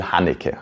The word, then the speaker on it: Haneke: No, if you're interested in the actual, at least Austrian pronunciation of these names, I will now do you that pleasure. So yes, the director, the writer and director's name is Michael Haneke.